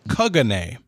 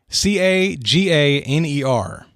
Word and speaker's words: Caganer: but according to the pronunciation key that I worked with, a Caganer, Caganer, is a statue found in nativity scenes in